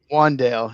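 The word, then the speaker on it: Wan'Dale: Wandale.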